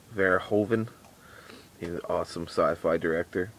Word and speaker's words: Verhoeven: Paul how do you pronounce his name? Verhoeven.